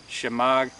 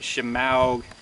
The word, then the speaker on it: shemagh: Now a lot of people have trouble pronouncing that word, shemaghs. They'll pronounce it shemaug, shamwow.